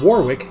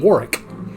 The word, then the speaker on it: Warwick: w i c k they don't pronounce the w so while I was living there a very very famous American singer named in the United States Deon Warwick had several big hits